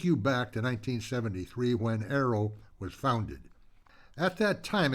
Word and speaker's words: AARO: Welcome to Aerrow Voices, the podcast for American Expatriots around the world, brought to you by the Association of Americans Resident Overseas. A A O pronounced arrow.